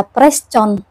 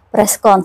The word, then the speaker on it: preskon: Ya, jadi misalnya press conference itu tidak dibaca press con, ya, tetapi preskon sesuai dengan pelafalan aslinya, C dibaca K kan gitu.